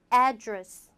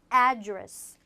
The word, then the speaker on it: address: 그래서 강세도 명사일 때는 address, address. 동사일 때는 address, address. 뒤로 민다.